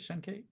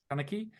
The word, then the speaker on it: Shanachie: He studied Gaelic folklore for 3 months at the Dublin Library and received input from the Shenki. Is that how you say it? Shenki? Shanachie.